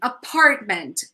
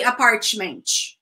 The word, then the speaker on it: apartment: so this word again apartment the first T is silent you don't say a parchment write and that one